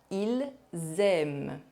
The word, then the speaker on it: aiment: The ending ENT of verbs for the third person of the plural, I mean for il, they masculine, and elle, they feminine, for all verbs and all tenses is always silent.